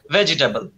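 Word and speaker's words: vegetable: আমার বিদ্যালয় শিখিয়েছিল কি ভি ফর ভেজিটেবল এখন একটা পর্যায়ে এসে আমাকে জানতে হচ্ছে না ভেজিটেবলের ইটা তো উচ্চারণ হবে না ভেজিটেবল হবে আমি তো 12 বছর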